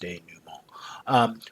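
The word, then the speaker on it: denouement: after the conflict resolves there's what's called the denu mall let's see how it's pronounced day new mall which is where we make sense of the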